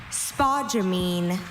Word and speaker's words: spodumene: Your word is spodumene. Could I have all the information? Spodumene, this is the only pronunciation.